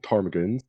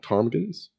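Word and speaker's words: ptarmigans: the option yeah the there are uh mount tarmigans and they are far lower maintenance okay so they're cheaper mount tarmagens they're okay it's spelled t or no p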